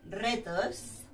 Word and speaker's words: reto: Por ejemplo, Roma, o me gustan los retos, ¿sí? Al principio de la palabra, the beginning of the word, the sound is a strong one, R, Roma, reto, ¿sí? If you've got the R